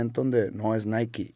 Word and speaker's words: Nike: que sean del inglés sería pronunciar Nike como Spike pero por sus huevos Se lo cambiaron a Nike y yo no estoy